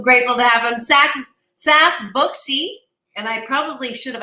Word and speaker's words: Buxy: You pronounced it beautifully. Saf Buxy. You said Buxy, right? Was it? Buxy.